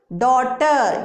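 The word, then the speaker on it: daughter: डॉटर, यहां पर भी GH आ रहा है, साइलेंट है।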